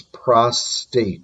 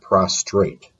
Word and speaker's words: prostate: pathologist pericardium platelet prognosis prostate gland please know it's prostate not prostrate prostate gland psychosis reno